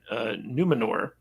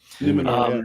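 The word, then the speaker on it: Númenor: And when he arrives at Numenor, is that how you pronounce it? Numenor? Numenor, yeah.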